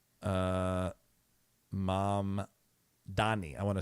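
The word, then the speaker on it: Mamdani: Uh mom Donnie mayor race right? Uh mom Dani.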